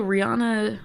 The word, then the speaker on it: Rihanna: Ivy but yeah also Rihanna said that Americans have been pronouncing her name wrong did you know that I'm unaware I knew it and I said I don't care oh the she pronounced at Vienna yeah so I heard